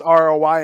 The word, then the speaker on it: Roy: on the TV and Katie goes that is not how you say his name I was like that's the French Roi yes who's Nick Roy